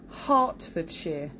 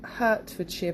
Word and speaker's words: Hertfordshire: is an interesting one Hartford sheer so not Hertfordshire but Hartford sheer the Isle of Wight